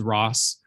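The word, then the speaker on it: Rosse: It's actually Ms. Ross, not Ms. Rossi. That last E is silent.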